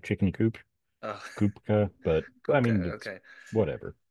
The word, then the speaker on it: Kupka: are here with the one and only kopka is that how you pronounce your last name just making sure um I pronounce it with more of like a CP sound like chicken CP Koopa but I mean okay whatever just check because